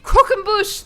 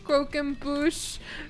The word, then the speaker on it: croquembouche: Croquembouche. There we go. I got it. I got that shit. Don't even worry about it. Not croquembouche. Croquembouche. Croquembouche. Not crocs and bush.